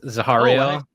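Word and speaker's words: Zahariel: His name Zah Zario is how you say it. So, so I had the audio book and it's Zahario.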